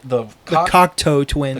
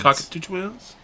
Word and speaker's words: Cocteau Twins: How do you pronounce it? The Cocteau Twins. The Cocteau Twins. Cockatoo Twins?